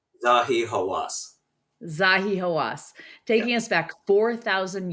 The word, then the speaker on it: Zahi Hawass: Zahi Hawas. Zahi Hawas.